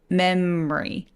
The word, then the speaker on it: memory: 되기는 하는데 보통은 memary memory 이렇게요 m에서 ry로 바로 가시는 거예요 다시 한번